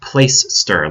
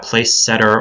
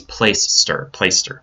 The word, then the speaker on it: Placester: And it is pronounced Placester, like Placester. It's not Place Setter or Playcaster or any of those other weird pronunciations that we hear. It's Placester.